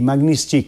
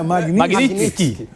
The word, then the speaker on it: Magnitsky: O Sami também é Mas eu acho que esse T é mudo, não é? Magnitsky.